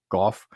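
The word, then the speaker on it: Gough: this is jennifer and david go or golf and i apologize if i'm mispronouncing your name it's spelled g-o-u-g-h uh so say jennifer and david goff and they are the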